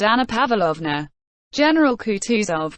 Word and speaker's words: Kutuzov: said anna pavlovner general kutuzov said bolkonski speaking french and stressing the last syllable of the general's name like a frenchman has been pleased to